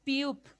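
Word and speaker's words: 피읖: Ahora tenemos la Piup. Piup. ¿Vamos? Sankyo. Muy bien. Piup. Muy bien. Sankyo. Perfecto. La Piup al centro, o abajo, o al medio, igual va a ser una P.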